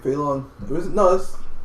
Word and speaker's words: Fei Long: You said it right, Fei Long.